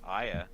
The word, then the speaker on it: Aya: And then is it Aya or A? How do you say her name? Aya. It is Aya.